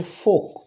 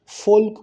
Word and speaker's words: folk: এখানে হবে হচ্ছে ফোক, FOLK। ফোল্ক হবে না, উচ্চারণটা হবে ফোক।